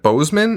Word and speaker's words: Boseman: weekend with just behind uh chadwick was it bozeman is that how you say it chad boseman yes rest in peace r.i.p